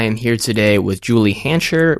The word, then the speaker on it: Hancher: here today with Julie hancher rhymes with Jolly Rancher that is how she told me to remember the pronunciation and she is the